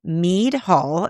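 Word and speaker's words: Mead Hall: We went into me hall. That's spelled M E A D Hall.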